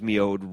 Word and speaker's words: mjød: Well, MJØD's MjØD, I believe, is the proper pronunciation of it in Danish.